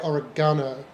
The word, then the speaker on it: oregano: Well, see, in Britain we would say oregano, but I know here it's oregano, It is oregano.